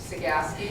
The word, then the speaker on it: Cegavske: and i'm here to teach you how to pronounce sagaski so just forget the b and as i tell